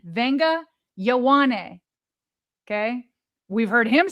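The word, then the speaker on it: Vega: Vae Nga Yowani. Okay? We've heard him say it. It's in the Penn State pronunciation guide. It's Vae Nga pronounced with an N even though it's not spelled that way.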